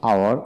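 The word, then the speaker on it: hour: অর্থাৎ যে সকল ওয়ার্ডের ক্ষেত্রে এইচ উচ্চারণ হয় না, এইচের পরবর্তী অক্ষরে উচ্চারণ হয়ে থাকে, সেখানে আমরা এন বসাবো।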